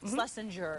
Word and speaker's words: Schlessinger: Schlessinger.